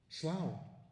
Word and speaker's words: Slough: Well, first of all, that Slough, like Thoughh, tough, or Rough, rough, is really pronounced over there like cow, Slough, which is on the Thames, near Reading, in Berkshire.